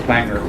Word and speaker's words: Bangor: house burned down yeah so its banger but they spell it the same as Bangor Maine they pronounce it as banger so if anybody's interested